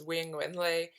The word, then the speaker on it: Quyen Nguyen-Le: asking yeah i so my name um the way i pronounce it is wing windley and um it was